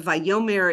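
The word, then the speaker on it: וַיֹּאמֶר: Vome the accent is always on the yo. So sometimes you'll have violomar the accent is on the mar but vyome is what you'll see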